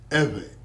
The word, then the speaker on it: Ever: Let's do the pronunciation properly. We are what? Ever.